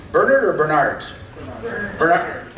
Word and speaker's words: Bernard: Bernard. Accent on? Well, you guys don't even know. First syllable or second? Second. Bernard.